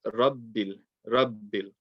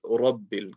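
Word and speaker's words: رَبِّ: And a common mistake is people do not make it heavy. So you very, very often will hear Alhamdulillahi Rabbil. You want to say Rabbil.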